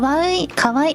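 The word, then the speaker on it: かわいい: bringing up a topic uh how to pronounce that this is Kaw Kawai oh by the vtuber in Japanese is Kaw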